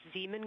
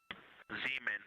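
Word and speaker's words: Zeeman: Integrity science, we believe that's Zeman crater. Oh, I floated away from the speaker. Say it again, please. We believe that that is Zeman crater. Zeman.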